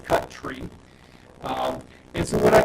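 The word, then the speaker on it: cutree: cutting the tree um I don't know why not C and then t r e e but I'm just going to pronounce it as it is cut tree um and so what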